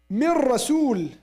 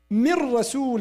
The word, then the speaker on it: من رسول: من رسول وما أرسلنا من رسول إلا بلسان. We don't say من رسول. We say من رسول.